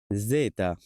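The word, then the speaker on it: zeta: আর শেষ যেটা আছে জেতা। জেতা। এখানে যদিও বাংলাতে জেতা লেখা আছে কারণ বাংলাতে খুবই কঠিন একটা অন্য দেশের ভাষার পুরা উচ্চারণটা লিখা তো এটা সঠিক উচ্চারণ হবে জেতা জেতা ওকে আমরা মোটামুটি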